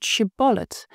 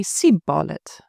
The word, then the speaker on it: shibboleth: The Gileadites pronounced it šibboläṯ, but the Ephraimites, it seems, could only say sibboläṯ.